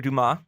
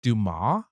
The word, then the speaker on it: Dumas: there's no E at the end of it. So yeah, you don't pronounce the S. It's Dumas.